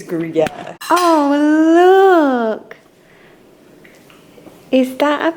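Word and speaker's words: Gruyère: Gruyere. Beautiful. Oh, thanks, guys. I think it's Gruyere.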